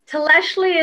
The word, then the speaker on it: Tlextli: So for those listeners, Tleshli is spelled Tlextli, and it's in the ancient Nahuatl language, the ancient language of Mexico.